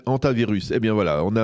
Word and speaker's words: Hantavirus: Alors, Hantavirus. Hantavirus. Eh bien voilà, on a un peu quelques difficultés à le prononcer, mais vous allez bien nous l'enseigner parce